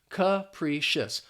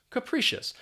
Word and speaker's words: capricious: look at the pronunciation that first syllable has the schwa sound that uh sound and then the pri is just pronounced as pre capricious capricious and what this means